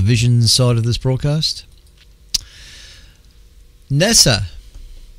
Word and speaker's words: NASA: side of this broadcast Nessa that's how you say it NASA not NASA NASA will study the